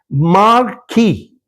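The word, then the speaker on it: marquee: ठीक है, फिर इसके बाद में इन्होंने एक वर्ड मैंने सिर्फ इसलिए लिया है so that I can teach you the pronunciation which is very common. मार्की, MARQEE.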